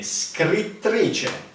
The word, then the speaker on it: scrittrice: E scrittrice. Scrittrice. It's impossible to pronounce.